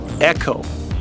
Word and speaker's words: Eco: in Portuguese the word spelt e Co is pronounced echo we say echo but it's true heritage is